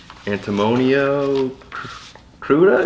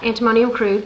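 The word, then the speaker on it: Antimonium crudum: And then you had me also taking the antimonio cruda, is that how you say it? So I forget how to pronounce it. So we did, oh yeah, antimonium crude.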